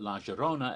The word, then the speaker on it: La Llorona: of la rona and she pronounced it okay not ja with a j not y with her but more of a justa so that's why i've always called it la gerona ever since because that's